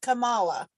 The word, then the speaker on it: Kamala: that I think it's Camilla yeah is he that black lady it said like like Pamela but Kamala yeah yeah because boy